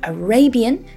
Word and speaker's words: Arabian: So Arabian with a stress on the second syllable, but Arabic, stress on the first syllable.